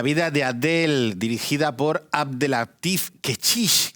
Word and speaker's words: Abdellatif Kechiche: La vida de Adele, dirigida por Abdelatif Kechiche, que hay que pronunciarlo bien, porque siempre lo hemos llamado Kechiche así en la cercanía.